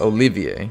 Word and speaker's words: Olivier: oh by the way his name is uh Olivier that's how it's pronounced during its I keep